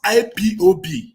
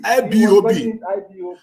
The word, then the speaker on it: IPOB: listen to this guy he couldn't pronounce ipob he was calling it lbob yes he was calling ibob listen that was the